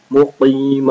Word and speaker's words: مقيم: قاف and صاد both are thick letters. مقيم الصلاة ومن ذريتي.